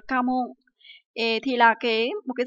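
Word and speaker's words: 家紋: Từ này được đọc là Kamon.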